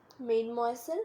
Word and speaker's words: mademoiselle: In French, a title to refer to an unmarried woman, pronounced Mademoiselle.